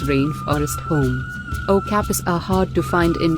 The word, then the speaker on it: okapi: the Okapi pronounced Okapi is beautiful and unusual with its white and